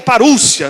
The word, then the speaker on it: parousia: E essa vinda aqui é parousia, ou parúcia, né, que seria a pronúncia também.